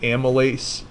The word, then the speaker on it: amylase: it like it's spelled my lace it's actually pronounced amylase and its job is to break down carbohydrates